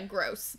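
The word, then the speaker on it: Grose: mrs gross gross yeah gross but spelled like g-r-o-s-e so not gross gross still gross um and there she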